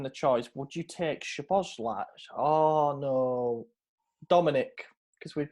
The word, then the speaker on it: Szoboszlai: Yeah, because the SZ makes a normal S, and then just the solo S makes a ch.